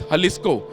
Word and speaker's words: Jalisco: areas in Mexico is Jalisco. But they write it as J because J is silent.